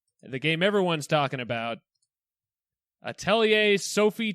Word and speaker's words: Atelier: Now, talking about the more important of those two, that is the correct pronunciation. It's Atelier, not Atelier. Yeah, it's Atelier.